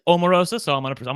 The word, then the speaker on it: Omarosa: By the way, they did ask her how to say her name. She said it thank you for asking. It is Omarosa.